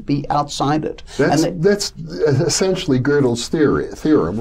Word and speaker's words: Gödel: And this introduces Kurt Gödel, yes. Another great mathematician, or Gödel, some people will pronounce him, very much so.